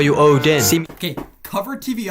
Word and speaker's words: Odin: Odin rhymes with no win.